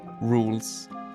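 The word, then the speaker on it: Rouxls: You see, that's how his name is spelled, but it's pronounced Rules.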